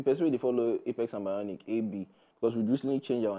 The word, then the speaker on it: AB: The one place where I go, they say I be Apel. Now, I say, okay, no. Man, I just give an A. AB. Very easy to pronounce.